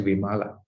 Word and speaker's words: Vimala: remind you, very often people are confused about my name because it's Wimala. It's written as Vimala. And India, Vimala is female. But in Sri Lanka, there are men use the word Vimala, but pronounce it differently. Is male, is female. So Vimala is male, so there are so many men, but we pronounce it differently. But the same letters, for women we say Vimala. For men, we pronounce it as Vimala.